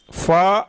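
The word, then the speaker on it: فاء: آپ اردو کے لب و لہجے میں فے، عین، لام بولیں گے تو اسے بہتر ہے عربی کے لہجے میں بولیے. اردو میں فے بولیں گے، عربی میں فا بولیں گے.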